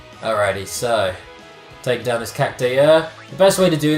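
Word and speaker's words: Cactuar: Is it Cacktwar? I've always said Cactar. It's a weird spelling. It's C-A-C-T-U-A-R. So phonetically, that'd be Cacktwar.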